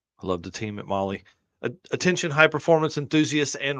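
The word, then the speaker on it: Mahle: the podcast listeners podcast listeners out there See Molly is spelled m a h l oh yeah oh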